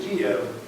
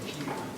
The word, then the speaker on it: Kiev: I have trouble saying Kiev, which is the Ukrainian,